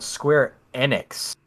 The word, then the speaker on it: Square Enix: our e3 list was square apparently it's called square enix according to matt mercer who hosted the event